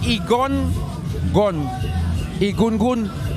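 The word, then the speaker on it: Egungun: what you call the igungun people yeah folks if you are there a gun gun so you pronounce like aegon gun gun so you spell gun but you just put that in front and you can google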